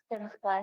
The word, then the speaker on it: Simcha: Simcha, yeah.